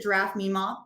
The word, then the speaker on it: giraffe_MMA: Some people pronounce it giraffe Mima, but whichever. I have some kids that thought it was Mima instead of MMA. So Awesome. All giraffe right. MMA, giraffe Mima. I go by both.